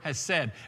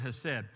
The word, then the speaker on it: hesed: But the word, two words used in that passage in Exodus is the one word is the word hesed. H-E-S-E-D is how we would spell it in the English language.